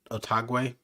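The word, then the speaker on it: Otaegui: Otagwe.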